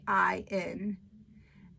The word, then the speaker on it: lecithin: Sorry, I don't know how to pronounce that. It's lecithin.